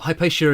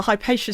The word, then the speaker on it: Hypatia: Yeah, well Hypatia is such a weird that's a sort of Victorian pronunciation. Yeah, I was going to say it doesn't Hypatia Oh. Hypatia.